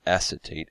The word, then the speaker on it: acetate: And we have acetate, that's pronounced acetate, A-C-E-T-A-T-E.